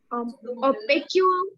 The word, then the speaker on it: opaque: The object which does not pass the light, they are known as Opaque object. opaque. We pronounce it as opaque.